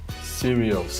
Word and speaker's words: Sirius: So that's why So how do you spell that? Sirius.